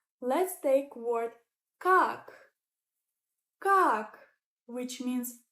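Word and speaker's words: как: Let's take word kak, kak, which means how.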